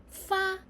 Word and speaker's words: 发: Fa and fa. Which is correct? Actually, both of them are correct, but different pronunciation has different meanings.